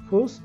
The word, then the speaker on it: whose: La pronunciación de whose es como si hiciéramos la Z en inglés. Recuerda que la Z se diferencia de la S porque hace un sonido más de vibración, como whose.